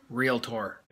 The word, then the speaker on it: Realtor: Realtor.